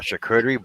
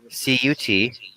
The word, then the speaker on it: charcuterie: CHARCUTERIE. So why isn't it charcuterie? Because it's French.